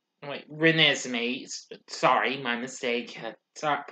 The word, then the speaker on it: Renesmee: with mackenzie foy playing bella and edward's daughter ren is me wait renesmee sorry my mistake had stopped pronouncing my apologies also billy burksbeck and pierre